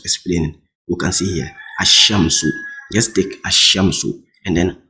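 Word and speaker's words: الشمس: to see al shamsu you see not alamsu the L should not come out it what so most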